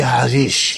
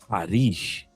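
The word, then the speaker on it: Haddish: And she says the pronunciation of her name is Harish, not Hadish.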